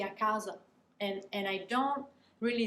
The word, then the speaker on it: casa: end of the word for italians is super super important to pronounce those vowels at the end of words um you have to push until the word is over before you just relax so akaza akazo those are two separate things if i say a